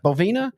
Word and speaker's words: Bovina: how you say B bovina I feel like they should be a bull or something not a Mustang doesn't the bovina Bulls sound like bov yes yeah that's I pronounce it like a cow like a cow cow